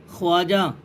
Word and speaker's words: خواجہ: Number 43 واو معدولہ۔ واو معدولہ وہ واو کہلاتی ہے جو لکھنے میں آئے اور پڑھی نہ جائے۔ اسی سبق کو پڑھنے